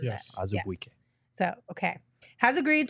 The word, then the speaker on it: Azubuike: That's how he pronounces Yes. it. Azubuike.